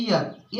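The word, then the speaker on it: heir: इसलिए य ए लगेगा अब य पर हो जाता है यर ए जो है साइलेंट हो जाता है यर का मतलब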